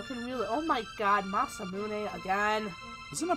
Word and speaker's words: Masamune: only the hero can you oh my god Masamune again he's gonna pronounce massaman I've always called it that I don't know